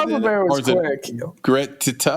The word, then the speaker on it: Greta: Do you still pronounce it Greta? Or is it Greta? Greta.